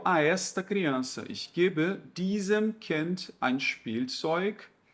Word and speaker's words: diesem: Por isso, gente, que é muito importante vocês pronunciarem bem pronunciado o N de nariz. Então, é diesen, né, com a língua lá no céu da boca. E aqui o M, ele você fecha a boca. Né? Diesem, diesen. É diferente a pronúncia, tá?